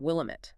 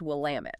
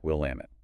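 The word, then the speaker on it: Willamette: That street name, Willamit, it's pronounced Will Lamit. Good to know. Will Lamit.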